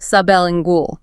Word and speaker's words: sublingual: Some medications need to bypass the digestive system entirely, so they are given sublingual, pronounced sub el in gool.